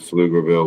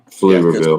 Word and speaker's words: Pflugerville: It is P F It's It's got a P in front of field. Oh my god. Yep. Pflugerville For people that don't understand, Pflugerville is spelled P F to get Yeah. P F l u g e r v i l l e Pflugerville. So, the P is not there, but it's there when you write it.